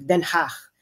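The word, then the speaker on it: Den Haag: ICC no maliit lang naman kasi ang theig then hach yun ang proper pronunciation ng Dutch ah ng Dutch city na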